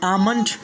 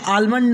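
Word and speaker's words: almond: फिर उसके बाद में आमंड, यानी आलमंड नहीं पढ़ना है बल्कि आमंड पढ़ना है।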